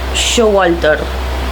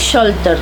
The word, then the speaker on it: Showalter: edición, que pertenece a Elaine Showalter o Sholter, perdón, creo que es Sholter la pronunciación, Elaine Sholter. es estadounidense. Así que creo que se pronuncia así.